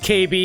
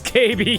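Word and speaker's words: 警備: security is a pun oh security is pronounced KB in Japanese oh it's KB KB okay that's pretty good uh let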